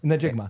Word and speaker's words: Njigba: It's Najigba. Phonetically, how much is it? Do it phonetically. Njigba.